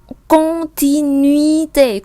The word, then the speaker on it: continuité: Tương tự bên kia chúng ta có là u và i mình đọc là uy, âm i. Continuité, chứ không phải continuité.